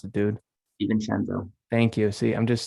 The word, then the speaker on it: DiVincenzo: I'm going to butcher this name because I can't pronounce it. Divincent. I can't even pronounce it, dude. DiVincenzo.